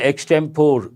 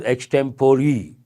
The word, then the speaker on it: extempore: extempore it is here people say extempore but actually it is extempore how do you pronounce